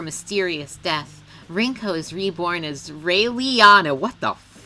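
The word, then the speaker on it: Raeliana: nightmare after her mysterious death rinko's reborn as rayleiana what the is that name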